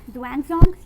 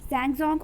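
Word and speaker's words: Xuanzong: So you can pronounce it as Zhuangzong, Zhangzong or Zhongzong. All the pronunciations are correct.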